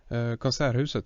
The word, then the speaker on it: Konserthuset: In Gothenburg, the way they've designed the, I think you pronounce it the Konserthuset? Konserthuset, yes. Oh, I'm pronouncing it terribly, yeah.